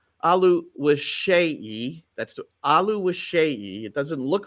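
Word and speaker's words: Oluwaseyi: sat with him it's t ALU wasi that's ALU wishi it doesn't look like that but that's that's the way it's pronounced and um he's a forward for Minnesota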